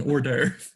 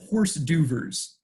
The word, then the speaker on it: hors d'oeuvres: He is given a food at the party, which French listeners may recognize as an hors d'oeuvre. He pronounces it as horse duvers.